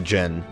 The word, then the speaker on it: Djinn: She forgot to pronounce the D in Djinn. It's pronounced the Djinn.